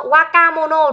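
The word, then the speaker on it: 若者: ấy, là wakai mono, waka mono đúng không? Đó, wakai. Wakai là trẻ đúng không? Thì chữ giả này mình sẽ không đọc là sạ mà sẽ là mono nhá.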